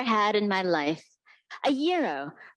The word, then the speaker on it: gyro: sandwich I've ever had in my life a Euro pronounced yo none of this gyro stuff it means Greek for turn the one